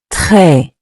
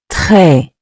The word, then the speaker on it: très: Très. Très. Après. Meaning after. Say it with me. Après. Après. You've probably noticed the final S in both words is silent. We don't pronounce it, but it's still there in writing.